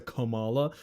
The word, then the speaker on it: Komala: Let me let me annunciate that a little better because it's a Kamala. That is how you say the Pokemon's name.